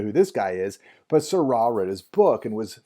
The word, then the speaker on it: Seurat: Here's our next modernist painter, Georges Seurat. And I just totally butchered his name while I was looking at it. Georges Seurat. Don't pronounce the T there, Mr. Endres. Georges Seurat.